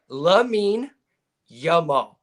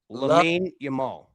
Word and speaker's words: Lamine Yamal: And Brad, pronounce the name again. Lamine Yamal. Lamine Yamal. Yamal. Lamine Yamal.